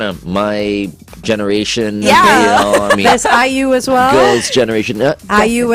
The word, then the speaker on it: IU: I thought it was AYU. Yeah, okay. No, that's okay. fair enough. Okay, fair enough. Yeah. Oh, so is it pronounced IU or? Yeah, it's like IU, I and you, yeah, like IU.